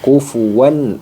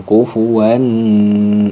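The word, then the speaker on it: كُفُوًا: maka dibaca izhar halq caranya dibaca jelas Nun sukunnya Oke dibaca jelas nun sukun kufuwan Ahad nah tidak boleh ditahan kufuan Ahad itu keliru jadi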